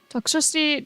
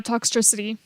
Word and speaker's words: Toxtricity: deal Pokemon is Rhymes Ace in scar toxcity doc spun andolon or it's uh toxtricity Dan's toxtricity and also her name is spelled r i m e that kind of